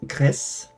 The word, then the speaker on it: Gris: And so it's actually pronounced I think it's Gris. So you're meant to pronounce the S whereas in French you don't.